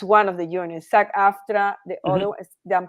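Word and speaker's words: SAG-AFTRA: agency okay is that okay got it that's sack after that's what I means sack after okay it's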